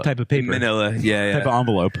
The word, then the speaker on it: Manila: It rhymes with vanilla. Type of paper. Manila.